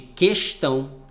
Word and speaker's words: questão: Diferentemente de questão, que nesse caso, questão, o U não é pronunciado. Mas, se pronunciar, também está correto, né?